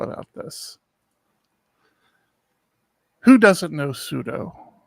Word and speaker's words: sudo: Who doesn't know sudo, right? Sudo?